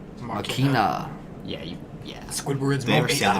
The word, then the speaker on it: Machina: Demons X Machinima. oh fucking annihilate. And you just pronounced Machina weird. Like you really emphasized the Machinima. I. Machina.